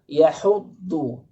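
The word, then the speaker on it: يحض: Pengucapan do. Do banyak yang salah. Makhraj huruf do yaitu adalah hafatul lisan ma'al adras. Tepi lisan baik yang di kanan maupun yang di kiri itu melekat pada gigi adras.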